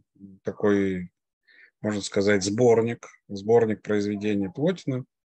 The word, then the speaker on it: Плотин: Теория эманации у нас сформулирована в произведениях Плотина, а именно в его «Инеадах». «Инеады» — это такой, можно сказать, сборник произведений Плотина, или Плотина, более правильное ударение, Плотин, которая состоит из 6 частей.